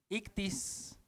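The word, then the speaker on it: ΙΧΘΥΣ: en sus conversaciones verad sabes cómo se lee esto ictis ictis ictis y x o o en el griego luego suena como una c o como una J es un poco raro de pronunciar después hay una t después otra I y luego una s ictis ahora Así va el acróstico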